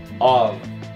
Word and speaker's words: of: Já nessa palavra aqui, você pronuncia esse F com som de V, of.